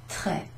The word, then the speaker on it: très: This here is an accent grave, that's the name of that little line, and that changes the sound of this E to an E. It's sort of E, sort of shorter and flatter.